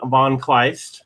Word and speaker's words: von Kleist: so everybody we've got uh we've got von kleist right i pronounced your name right right yup very good